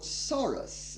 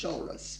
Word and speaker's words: Soros: well pronounced maida because most people of course say george soros and of course it is chorus because it's hungarian like george shorty do